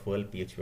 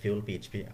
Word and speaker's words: FuelPHP: অনেকে আবার ফুয়েল পিএইচপি বলে, তো যাই হোক ফিউল পিএইচপি এটার মেইন উচ্চারণ।